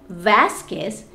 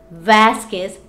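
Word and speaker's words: Vásquez: a last name like vasquez remember it's vasquez not vasquez we don't pronounce the letter u okay it's just like the word mosquito or tequila is the same thing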